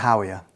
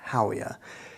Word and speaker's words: Howea: sure that there are other ways to pronounce that haa Hoya Hoya I don't know I'm going to go with Hoya because it just looks like it makes sense uh Hoya is also